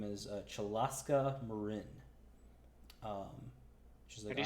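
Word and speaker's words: Muruin: name is uh chalaska marin um can you spell that name yeah c-h-a-l-a-s-k-a and then m-u-r-u-i-n so you might think it's it's it's pronounced mourin but it's marin because that's the way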